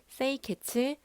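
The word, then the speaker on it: 清潔: 5S는 일본어로 정리, 정돈, 청소, 청결, 습관화를 발음했을 때 정리는 세이리, 정돈은 세이톤, 청소는 세이소, 청결은 세이케츠, 습관화는 시치케라고 합니다.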